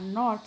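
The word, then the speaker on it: know: Letters which are not sounded or pronounced in a word are called silent letters.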